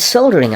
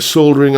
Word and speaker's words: solder: with a multimeter and soldering iron. Yep, one of these, a soldering iron, or for our American viewers, a soldering iron. Yeah, it just always feels weird not pronouncing the L in that word, but there you go.